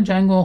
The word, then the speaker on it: Django: چیه حالا نوه نوشتنشم با یه دی شروع میشه می‌نویسن دی جنگو اما جنگو تلفظ میشه خب من د تا